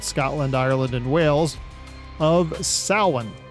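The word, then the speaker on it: Samhain: Ireland and Wales of sa which sounds kind of funny and looks even funnier since it's spelled more like Sam Hayne anyway sin marked the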